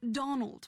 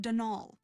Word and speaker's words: Donal: that was the caretaker denal Delaney not Donald mind you there's no D at the end so it's pronounced denol that's you're supposed to